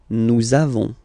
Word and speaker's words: nous avons: the lesson, for être, you make this link between the two, so nous avons, okay, nous avons, that's it.